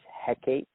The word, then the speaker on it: Hecate: associated with tarot is Hecate. Now, sometimes that's pronounced Hecate. It's spelled It's spelled Hecate, but there's also an Hekate spelling of it as well. It's all the same thing. You can say Hecate, you can say Hecate,